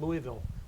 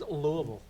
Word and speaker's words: Louisville: pretty young I'm from originally from Louisville Kentucky pronounced Louisville not Louisville just for all you know anyone who doesn't